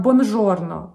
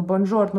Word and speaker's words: buongiorno: так вот итальянской здравствуйте buongiorno или хорошего дня боль giorno она почему-то часто произносится как бонжорно бонжорно buongiorno buongiorno вот не от во-первых в итальянском языке звука же знаете и во-вторых вот итальянцы